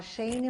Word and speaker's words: Shane: O meu nome se fala Shane, mas se escreve Shane, S-H-A-N-E.